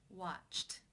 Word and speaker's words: watched: The final sound of the infinitive form of the verb is the T sound.